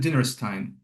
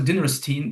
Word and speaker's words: Dinerstein: Usually in English I pronounce it Dinerstein. Oh, okay. But, but some people can pronounce a Dinerstein because like in American English specifically like Frankenstein, right? Like the Jewish surnames, they have Steen in the end, right? So, that's also fine.